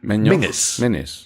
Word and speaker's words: Menzies: So you have this name Menzies, which is actually Mingus. Okay. Mingus is how it's pronounced.